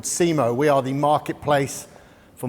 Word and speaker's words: SEMO: For those of you that don't quite get the name, SEMO is the phonetic pronunciation of CMO, Chief Marketing Officer.